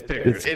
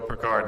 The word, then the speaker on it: Pickard: pronounced piard or Pickard it's pick it is pick it also very you could look at that and go peard and that would like he if he was like might I pronounce it peard yeah if you're a